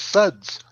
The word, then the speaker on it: TSUDS: watch the ted talk it's officially henceforth known as suds the tea is silent well since you know